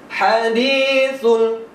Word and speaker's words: hadithul: Hadithul, hadithul. Nah, di sini jangan sampai keliru membacanya. Kalau kita membacanya hadithul nanti bisa berubah artinya. Di sini menggunakan huruf ha.